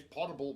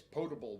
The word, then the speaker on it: potable: non-potable water which I just learned how to pronounce this week because of Brandy good job yeah uh everybody uh says portable water apparently it's potable water and I never picked that up from